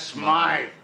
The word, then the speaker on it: Smythe: Smith is closing up his shop. That's Smythe. There you got it. The creep called him Smythe. He knew how to pronounce his name.